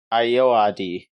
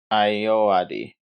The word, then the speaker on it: Ayoade: Um Ayoade. That's what it says on Wikipedia. Ayoade.